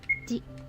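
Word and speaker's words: じ: Ji. Ji. Z. You pronounce this as Z. There's no D sound for this character, and yes, it sounds exactly the same as another one.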